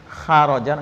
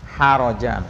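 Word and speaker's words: حرجا: harojan keberatan harjan ya Ha kalau kita bacanya kurang bersih khjan ngorok jadinya ya Ko itu namanya keluar ini ha bersih harjan ha Isha ya keberatan makanya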